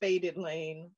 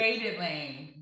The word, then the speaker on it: FADEDlain: If I didn't, can you please, for the sake of the audience, go ahead and pronounce the name of your company? Yeah, it's just FADEDlain. So it's FADEDlain.